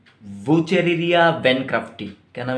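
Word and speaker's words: Wuchereria: याद रखिएगा बच्चों, ये नाम थोड़ा सा हार्ड है प्रोनाउंसिएशन में, कि डब्ल्यू का प्रोनाउंसिएशन प्रोनाउंस नहीं होता, साइलेंट रहता है, तो यहाँ से भी प्रोनाउंस कर सकते हैं आप, वुचेरिया बैनक्रफ्टी, ठीक।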